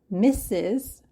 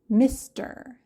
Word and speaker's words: Mr.: The first one, Mr. It rhymes with sister, Mr.